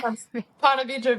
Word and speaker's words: Ponte Vedra: Ponte Vedra Beach.